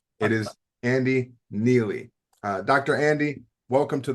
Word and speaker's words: Neillie: Now make sure when you reach out to him you pronounce that last name correctly. It is Andy Neely.